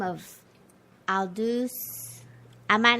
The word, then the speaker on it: Aldous: And tonight's quote comes from a gentleman by the name of Aldous. I might not say it correctly. Aldous Huxley. Aldous, there you go.